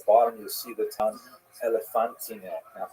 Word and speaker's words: Elephantine: Now, I always pronounce that, by the way, Elephantine. I looked a little more carefully, and I think it's supposed to be pronounced Elephantine. Maybe someone in the comments will correct me if I get that wrong.